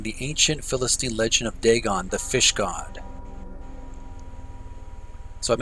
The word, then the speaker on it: Dagon: Dagon, obviously. It's spelled D-A-G-O-N in the game, and in brackets it's spelled D-A-G-A-N.